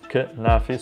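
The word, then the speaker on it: كنافة: For desserts, you have كنافي, and it's pronounced كنافي, so it's written out like knife, but in Arabic we actually pronounce every letter that we spell. So كنافي, like knife, but not really كنافي.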